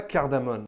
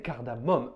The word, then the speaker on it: cardamome: peut entendre les deux mais étymologiquement c'est censé être cardamom avec deux en fait c'est une lentille j'avais pas de cardamom pourquoi les gens prononcent kardamone et pas cardamom en linguistique ça a